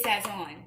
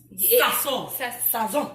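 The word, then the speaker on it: Sazón: This is Sazon. Sazon. Sazon. That's the right way to say it.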